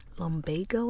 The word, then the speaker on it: lumbago: I'm going to check the pronunciation of that word again. Lombago.